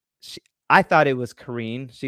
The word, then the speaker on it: Karene: She, I thought it was Karene. She says Karene, right? It's a French. Did I say it correctly? How you say it? It's Kagan, but you said it right.